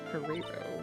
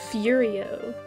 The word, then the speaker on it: Furio: fero yes ferero why did I say that like Ferrero or what that's not how you say how do you say the F fio wait wa the the guy's name yeah just it's furio furio furio from I have experience